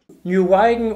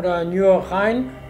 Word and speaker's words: Nieuwegein: nowhere Let's enjoy it Nieuwegein or Nieuwegein, the pronunciation is not that easy, totally surprised us We expected a village and discovered a city Why would you stop your boat here?